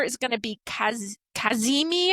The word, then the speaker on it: kazimi: So it's its best placement and Jupiter is going to be kaz kazimi I guess is how you say it. K a z i m i kazimi which means it'll be at the same degree.